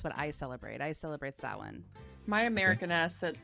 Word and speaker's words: Samhain: gay like it does it's pronounced differently than what it's spelled small brain now i